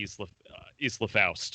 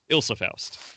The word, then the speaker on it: Ilsa Faust: I feel like I'm weirdly most excited for her to be introduced to Isla Faust, or however you say her name. Ilsa Faust.